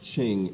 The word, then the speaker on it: Qing: emperor of china the qing emperor is what it's spelled q-i-n-g but it's pronounced ching emperor and uh the